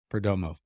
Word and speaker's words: Perdomo: There's only 3 syllables. Perdomo. It is.